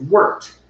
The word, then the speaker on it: wort: but steve was just saying that the proper pronunciation of that word is worked anyone have any feedback if so go ahead